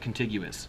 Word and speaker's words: contiguous: Now, I really did write contiguous, and that really is a word. And it sounds like the word continuous, but it's not.